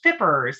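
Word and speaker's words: FPRRS: that funding um was uh the acronym was fippers as we pronounced it you may recall the fippers funding and unfortunately that did expire last year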